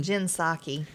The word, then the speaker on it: Psaki: Jen Psaki. Why don't they just change the spelling of that where I can pronounce it? Take that silent P off of there.